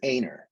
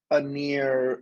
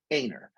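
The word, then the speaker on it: Anner: is about my name my name is aynor not aneer or anna or inet or some other way to properly mispronounce it it's aynor spelled a-n-n-e-r you've never heard of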